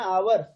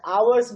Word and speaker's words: hours: 10 hours, और ये h जो है यहाँ पे साइलेंट है। आप o u r को r बोलते हैं ना, आवर, तो आवर ही बोले, बट ये h हा नहीं बोलेंगे इसमें।